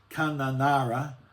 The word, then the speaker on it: Kununurra: Benny's again had a go at my Benny T's having a crack at my pronunciation. It's Kununurra, idiot.